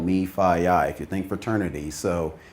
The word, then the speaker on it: MEFIYI: to pronounce that but if you think fraternity it's called me fie I could think fraternity